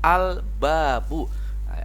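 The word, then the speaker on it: الباب: dulu baik yang kedua contohnya albabu halnya dibaca jelas ya itulah yang dinamakan Alif Lam Qomariah albabu artinya pintu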